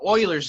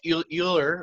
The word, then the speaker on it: Euler: introduce this thing called Euler's number and if you see this I know his name it looks like Euler or something like that it's pronounced Euler like the Houston Oilers or something like that